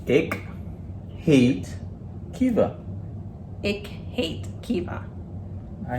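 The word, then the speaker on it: heet: Who hate ya? Who hate ya? Good. All Is right. it hate? Hate? Yeah, like you pronounce it the same way. You spell it different, so it's H-E-E-T, but it's hate.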